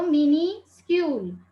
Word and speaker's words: minuscule: You can pronounce it as a minuscule because this word is formed by mini plus scule.